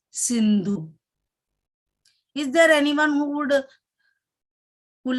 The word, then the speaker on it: Sindhu: Indus is the name of the river, and in Hindi it is pronounced as Sindhu.